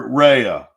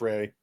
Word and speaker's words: Rey: When the one where Rhea, am I saying it right? Just Rey.